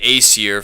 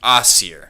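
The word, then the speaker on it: Æsir: you say you know people may say the aier for the Norse gods but it's technically pronounced the assier so it's almost like you're saying ass or o um and of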